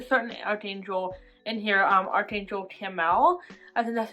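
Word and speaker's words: Chamuel: it was a certain Archangel in here Archangel Kimmel and that's how you pronounce it but he helps you find things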